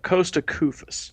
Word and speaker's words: Koufos: gonna kill me if I don't correct the pronunciation there it's Costa Koufos poza Koufos yep there we go I'm pronounced